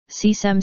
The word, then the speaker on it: Kösem: kösem sultan turkish pronunciation c-sam sultan c 1590 September 2nd 16:51 also known